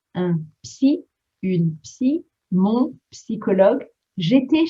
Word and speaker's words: psy: Make sure you pronounce the P in French. Un psy, une psy, mon psychologue.